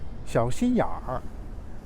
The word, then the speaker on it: 小心眼儿: Beijing people also will pronounce this way. 小心眼儿.